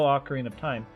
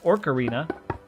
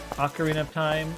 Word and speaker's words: Ocarina of Time: used to pronounce as OC Arena until about a year ago when I finally noticed there was not an r in the title of that game um I don't know